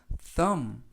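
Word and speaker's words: thumb: 뜻은 손가락 이라는 뜻입니다 th 는 이중 자음 쓱 번데기 발음 으 유는 어 때 음은 뭐 그리고 매 끝에 있는 b 는 발음하지 않습니다 그래서 싸움 싸움 이라고 발음하고 요 뜻은 첫 번째 손가락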